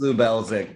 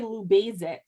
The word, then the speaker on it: Lubelczyk: It's pronounced Lubelczyk, but everybody can call Oh, me Dave because it's easier that way. awesome. Okay. I always say Lubelcyzk.